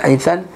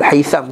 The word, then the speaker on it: Haytham: Yang sebut tadi kan Abdul Haythan At-Tayhan, Abdul Haytham bukan Haythan, Abul Haytham. Betul kan buku tu? M bukan N.